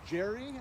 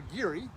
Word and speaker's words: Gerry: one over there is our Jerry or Geary really is he pronounced it L Ridge was the